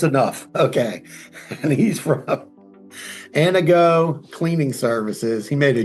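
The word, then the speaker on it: Anago: And he's from Anna Go cleaning services. He made a joke. He goes, "Think about your girlfriend named Anna and you want her to go."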